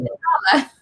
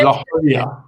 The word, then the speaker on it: La Jolla: Are you talking about La Jolla? La Jolla. Well, I mean, that sounds phonetically. It's like La Jolla. La Jolla. So there's the Spanish influence.